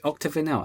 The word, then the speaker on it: Octavinel: Octavinel. Octavinel. Wait, Octavinel. It's Octavinel. I've been pronouncing it wrong all this time as well.